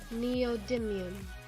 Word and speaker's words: neodymium: time is everyone ready prepare it was me neodymium neodymium neodymium neodymium I have a real problem with pronunciation because I grew up in Texas where